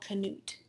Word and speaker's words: Knut: Kings was a Dane and he was called Knut that's how you pronounce that I'm so Beowulf how does he